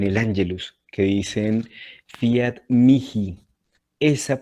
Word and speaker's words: mihi: En el latín eclesiástico o el latín italiano, que es el que pronunciamos nosotros, se dice fiat mihi. La H se pronuncia como una K.